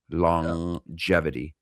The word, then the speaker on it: longevity: Long the the first G isn't really a G. It's more like an N. Long and the jevity isn't really a G. It's really a J. Longvity. So really it's two completely different syllables but because English is